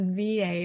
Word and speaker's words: Wiehe: So my last name is pronounced V-A, like the letters V and A.